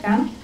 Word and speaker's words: Ghana: Is that how you say it, Ghana? Yes.